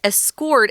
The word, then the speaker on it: escort: Typically, you'll hear this word escort as a verb to put the emphasis on the second syllable, escort. But if you're using it as a noun and you are the escort, you always say it that way.